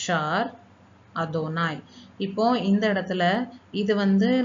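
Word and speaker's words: אֲדֹנָי: நம்ம இதை ரீட் பண்ணோம்னா யாவே அப்படிங்கிறத நம்ம ரீட் பண்ணுறோம். ஆனால் ஹீப்ரூவில் யாவேங்கிறது நம்ம ப்ரொனவுன்ஸ் பண்ணக்கூடாது. அதை நம்ம எப்படி சொல்லணும் அப்படின்னா எழுதும்போது நம்ம யாவேன்னு எழுதணும். ஆனால் அதை ப்ரொனவுன்ஸ் பண்ணும்போது யாவேன்னு ப்ரொனவுன்ஸ் பண்ணக்கூடாது. இதை எப்படி ப்ரொனவுன்ஸ் பண்ணணும்னா அதோனாய் அப்படின்னு ப்ரொனவுன்ஸ் பண்ணணும். அதனால தான் நான் இங்கே ரீட்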